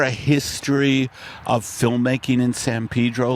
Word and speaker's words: San Pedro: Oh, how do you say it? Across the bridge. Well, we say San Pedro. Pedro. San Pedro.